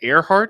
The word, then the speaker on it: Ehrhardt: It's a hyphenated. It's German. Hyphenated. Is it really German? Yes. Oh. Is that Earhart? Yes.